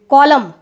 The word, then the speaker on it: column: कॉलम की spelling पर बच्चों ध्यान देना, COLUMN कॉलम। ठीक है, इसमें एन क्या है, साइलेंट है, तो कॉलम की स्पेलिंग फोकस करिएगा।